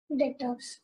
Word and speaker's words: debtors: Debtors. Again B is silent, ठीक है, वो हमारे कहलाते हैं डेटर्स।